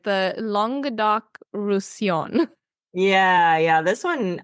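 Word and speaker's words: Languedoc: whole thing together but for the first word you would say long duck so it's it's very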